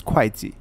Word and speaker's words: Kuaiji: We're going to be marching our armies down towards Kuaiji over here. Yeah, keep saying it wrong. It's Kuaiji. And we're going to grab the rest of this pretty quickly.